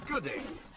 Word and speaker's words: G'day: No, it's good day. Like duh. You pronounce the duh sound.